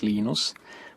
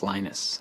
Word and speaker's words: Linus: I speak Finnish it's lenos when I speak English it's lonus and I really don't care how people pronounce my name but Linux is always